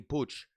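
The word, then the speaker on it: Puig: push is gonna play i said puy in america it's pronounced puy ricky pooch uh i don't think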